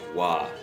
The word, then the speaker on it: བ: of all is that when ba is a second or third syllable okay then it gets pronounced as the sound wah actually right so here it's actually wah not ba okay so sometimes you